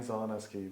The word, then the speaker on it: Zielenieski: And Father Zielenieski, Bryanzieleniieski.